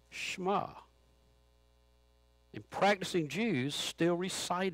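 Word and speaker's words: Shema: h m a and that's right but it's pronounced schma and practicing Jews still recite it twice a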